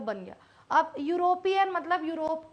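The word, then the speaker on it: Europe: ई यू आर ओ पी ई ई यू को बोलते हैं यू आर ओ पी यूरोप माने रस्सी दे दिया यूरोप। यूरोप बन गया। अब यूरोपियन मतलब यूरोप का।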